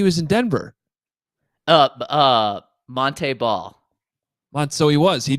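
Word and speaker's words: Montee: was his senior year he's like no actually my name's Monte Monte ball you guys are pronouncing it wrong this entire time and I'm like well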